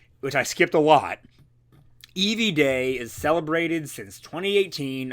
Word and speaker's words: Eevee: Eevee and Eevee are pronounced Eevee, the first two letters of the word evolution.